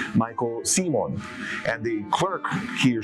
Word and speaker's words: Seman: Could you say my own surname, Seaman, S-E-M-A-N. Okay, it's really Simon.